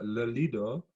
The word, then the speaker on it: Lido: How is my pronunciation? Lido?